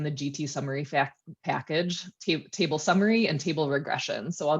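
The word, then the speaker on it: tbl_summary: the details of the table summary function some might say this is pronounced tibble summary but i still say table it's a little old-fashioned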